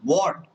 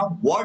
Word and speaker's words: what: अच्छा एक चीज याद रखना, वॉट जो है वो वॉट प्रोनाउंसिएशन होता है उसका, वाट नहीं होता है, वाट, मुंह पे ध्यान देना, वॉट वाट, बहुत इंपॉर्टेंट है ये भी, ठीक है।